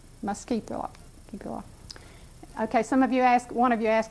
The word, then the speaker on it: muscipula: And that's how you pronounce the Latin name. Muscipula.